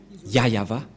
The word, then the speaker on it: Yahvah: voit rien et donc c'est bien la vraie prononciation de son nom yayava voilà le ya et